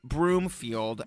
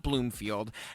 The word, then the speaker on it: Broomfield: Oh, and yes, I'm now aware that Nick's last name is Broomfield, not Bloomfield.